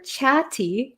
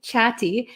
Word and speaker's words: chatty: um by the way the pronunciation here for chatti chatti so there's two T's here and they're kind of sandwiched in between an A and A Y so we have these two vowels here two vowel sounds so